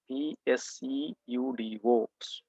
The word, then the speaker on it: pseudo: So pseudo government jobs means PSEUDO, pseudo, P is silent there.